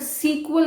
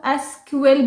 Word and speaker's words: SQL: यस, इसको बहुत सारे लोग सीक्वल बोलते हैं, सीक्वल, बट सीक्वल गलत प्रोनाउंसिएशन है। ऑल्दो ये गलत नहीं है, बट पहले सीक्वल ही बोला जाता था इसको, बट अब इसको SQL बोला जाता है।